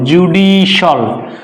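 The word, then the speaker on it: judicial: ওয়ার্ডের শেষে সি আই এল থাকে তাহলে সেটা উচ্চারণ হবে সল আমরা বলি জুডিশিয়াল রং প্রনান্সিয়েশন জুডিশিয়াল জুডিশাল জুডিশিয়াল অর্থাৎ এই যে সি আইল সল জুডিশিয়াল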